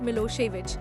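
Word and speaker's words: Milošević: A narrow-minded Serb nationalist Milosevic, pronounced Milosevic, had won the election.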